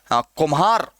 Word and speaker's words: कुम्हार: जैसे हम लोग पढ़ते हैं, एक शब्द है कुम्हार, कुम्हार, कुम्हार, कान्हा, कुम्हार। क्या हो रहा है? एक झटके में इन चारों का उच्चारण हो रहा है। इसलिए आजकल यह भी माना जाता है कि ये जो है ना, वो न, म, र और ल के क्रमशः महाप्राण रूप है।